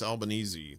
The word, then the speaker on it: Albanese: uh in a 2025 UN report special repur uh Francesca Albanesei I believe that's Albanzy that's how you say her name easy like Sunday morning identified Palunteer technologies founded